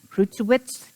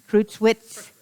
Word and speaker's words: Krushwitz: Okay, Krutzwitz. Do I say it right? Krushwitz.